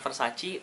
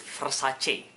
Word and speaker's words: Versace: Ya, pronounce-nya itu bukan Versace, Versace atau Versace. Tapi it's Versace. Dibaca apa adanya seperti orang Indonesia. It's Versace, ladies. Begitu kata Donatella Versace.